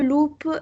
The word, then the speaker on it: loup: L'image l'image est est marrante pour pourquoi le loupe est dans le l le loup, c'est pas le loupe hein, on prononce pas le poup.